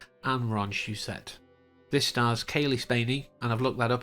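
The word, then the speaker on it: Cailee Spaeny: by Dan oanon and Ron shusett this Stars Kaye spany and I've looked that up Apparently that is the proper pronunciation David Johnson Archie Renault and Isabella methed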